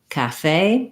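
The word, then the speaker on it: café: little axant on it comes from the french and so in english we use that diphthong a different than how they would pronounce it in french but um thinking about if you build from the stress syllable say cafe you're going to get the rhythm right you're also going to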